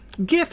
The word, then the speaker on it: GIF: Been fighting that hard G GIF battle for too long? I know the guy who invented it says it's a soft G. He's wrong. That's it. He's just wrong.